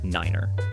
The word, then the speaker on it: niner: carefully too for instance the number nine is pronounced Niner to avoid confusion with five and 3500 ft is